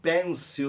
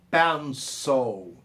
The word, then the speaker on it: pencil: Aliás, eu falei lápis em inglês, as pessoas pronunciam pencil no Brasil, mas a pronúncia é pencil.